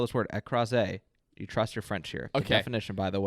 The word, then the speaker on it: écrasé: It's spelled just like it sounds in French.